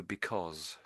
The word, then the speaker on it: because: said because I think maybe just gave a little bit too much emphasis in the wrong place. So, if I just say the word for you again. So because because because because so it's almost as if it's spelled this way. I know it isn't. So be o bit like that perhaps.